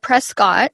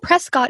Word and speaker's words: Prescott: called Prescot Arizona uh it's spelled Prescott and we can always spot the tourists cuz they're walking around like oh Prescott is so pretty but we know if we're natives that um it's Prescot and it's one thing